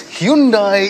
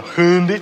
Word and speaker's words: Hyundai: They must have worked their way down a fairly lengthy list of manufacturers because they've ended up with this Hyundai Elantra.